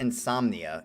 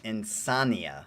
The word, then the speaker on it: Insania: Not Insomnia, Insania, like Insania.